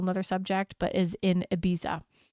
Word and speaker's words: Ibiza: subject, but is in Ibiza, which I know you're not supposed to say it like that, but that's how I say it in my American accent.